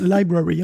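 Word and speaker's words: LBRY: c'est la promesse de un truc qui s'appelle LB Ry et qui se prononce qui se prononce library en fait library et donc ça a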